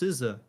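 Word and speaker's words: SZA: And it's pronounced Siza.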